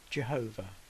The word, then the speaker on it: Jehovah: whoa hey which is usually pronounced in English as Jehovah however as can be